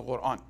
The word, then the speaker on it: Quran: I pronounce it the Arabic way. Some of you asked me today, why are you pronouncing it differently? Because in English, we don't have the sound, we don't have it. So the closest that we come to is the Q.